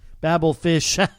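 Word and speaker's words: Babelfishh: looking for them online babelfish is spelled with two h's so it's babble fish b-a-b-e-l-f-i-s-h-h in case you're looking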